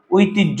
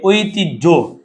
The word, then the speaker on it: ঐতিহ্য: যোগ জমন ভাই এইযে ঐতিহ্য হর সাথে জফলা উজ্য হর সাথে জফলা সহ্য হর সাথে জফলা হর সাথে যদি জ ফলা থাকে উচ্চারণ সেটি হবে এই হজফলার পরিবর্ত হবে বর্গে হসন্ত যোগ জ লিখতে তুমি এভাবে লেখ বলতে